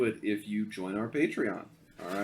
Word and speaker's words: Patreon: willing to do it if you join our patreon all right yeah join our patreon and uh oh yeah the serious episodes that